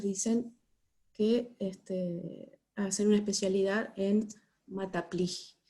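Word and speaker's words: maths appli: hacer una especialidad en mata play y se pronuncia así con acento en la hija porque son franceses entonces bueno ahí viene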